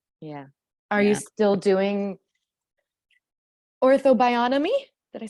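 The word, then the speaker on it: Ortho-Bionomy: lot of ways yeah are you still doing Ortho bionomy did I say it right yeah you did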